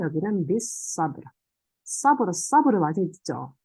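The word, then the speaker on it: بِالصَّبْرِ: 비사브르. 네, 여기는 사드이기 때문에 램 발음 안 하고 배웠죠, 우리.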